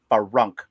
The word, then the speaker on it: Frunk: Farunk rhymes with trunk, guys.